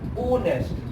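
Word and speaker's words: honest: और देखो हमारी प्रोनाउंसिएशन देखो, हमारी ये हो नहीं है, ओनेस्ट, ये क्या है ओनेस्ट मैन।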